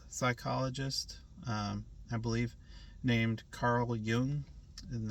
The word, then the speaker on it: Jung: And that concept was coined by I think he's a Swiss psychologist, I believe, named Carl Jung, and that's spelled Jung, not Young.